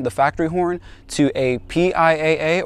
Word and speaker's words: PIAA: factory horn to a piaa or pia as i believe it's pronounced super bass horn alright